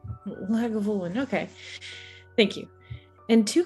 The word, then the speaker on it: Lagavulin: how do you how do you say that lagavulin lagavulin okay thank you and two class glasses in